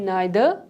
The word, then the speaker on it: neither: उसके बाद हमारे पास words हैं either and neither और either and neither। ये दोनों pronunciation भी इसके correct हैं, you can practice anyone, जो भी आपको easy लगती है।